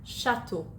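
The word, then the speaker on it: château: এরপর সির পরে যখন এইচ থাকে তখন এটার উচ্চারণ হয় স্বর মতো। যেমন লে শাতো, লে শাতো মানে হচ্ছে একটা রাজপ্রাসাদ।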